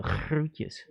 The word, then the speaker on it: groetjes: Only the G is a hard G, so groetjes.